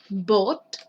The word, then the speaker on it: bought: Es importante que acá vean que este tipo de combinación de letras, si se fijan O, U, G, H, T, acá también sale de nuevo O, U, G, H, T, se pronuncia como OT, ¿ya? No se compliquen mucho, simplemente OT. Entonces, brought, brought, aquí sería